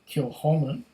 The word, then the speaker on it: Kilchoman: Established in 2005, Kilchoman, pronounced Kilchoman, is one of the smallest distilleries in Scotland, based on a farm on the rugged west coast of Islay.